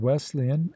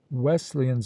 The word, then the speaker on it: Wesleyan: of their denominational name if a man pronounces the word Wesleyan as if the S were a z and puts the accent upon the second syllable one may safely conclude